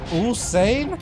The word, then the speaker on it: Usain: Like Usain Bolt. Usain? Yup, that's how you pronounce it properly.